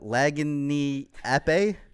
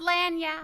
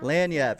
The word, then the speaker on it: Laniap: we're talking talking with the people of uh laging AE we don't care how you say it just come see us sorry it's pronounced lanap lanap I was close you very close very close